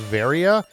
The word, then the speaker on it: Varia: I think it's pronounced Varia cuz it was kind of a mistranslation of the word barrier suit.